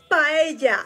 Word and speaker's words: paella: Paella. Yeah, paella. I love me some paella. Me too. Paella. Paella. Paella. Paella. Paella. Paella. Paella.